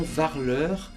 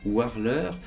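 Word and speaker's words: War'l Leur: Le nom Varleur, que certains disent aussi Warleur, il y a deux façons de prononcer le mot, signifie sur l'air, sur l'endroit.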